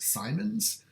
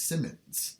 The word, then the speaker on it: Symons: that I um I've heard his last name pronounced Simons but I've looked it up and it looks like it is Simmons so that's why I am saying Simmons rather